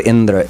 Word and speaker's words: Indra: They pronounced everything else the same, but they made it antyodatta. Emphasis on the end of the word Indra.